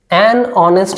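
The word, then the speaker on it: honest: ইউজটা বুঝতে পার অনেস্ট man same জিনিস এখানে এইচটা সাইলেন্ট আছে অনেস্ট ও এনই এসটি হচ্ছে ওর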